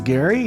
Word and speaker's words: Gerry: My name is Gerry, spelled like Jerry, and I'm the director of commercial and air services at London Airport.